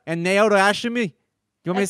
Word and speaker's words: Naoto Oshimi: be made by its creators Yuji Naka and Naoto Oshimi. During its development... Did you have to say it that way? I just pronounced it correctly.